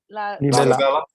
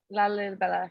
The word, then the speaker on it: Lalibela: Lalibela. Lalibela.